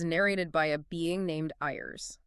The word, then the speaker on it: Ires: Specifically, we're diving into chapter one, which is narrated by a being named Ires. That's spelled I R E S, pronounced I res.